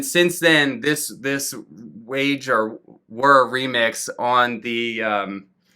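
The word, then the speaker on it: Waage: back to me and he said that it's were like w-u-r if if you had to spell it phonetically so that kind of surprised me so if you've been pronouncing it wage all of this time you're probably wrong i'm going to go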